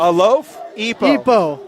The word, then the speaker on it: Alofipo: We had family come in and said, hey, it's Alofipo. Like a loaf? A loaf? Epo.